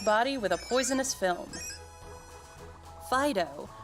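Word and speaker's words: Fidough: Fido are delightfully squishy Pokémon that are smooth to the touch. It's actually spelled like dough.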